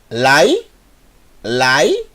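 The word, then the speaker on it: לילה: E essa sílaba eu vou ter que ler mais rápido por causa do Sheva.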